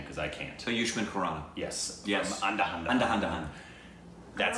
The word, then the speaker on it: Ayushmann Khurrana: So yushman kuran.